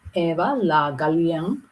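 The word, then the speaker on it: Eva Le Gallienne: This was a lady, Eva La Gallienne. Eva, or let's pronounce it French, Eva La Gallienne, 3 years her senior, but almost she liked to boast about her irregular love life.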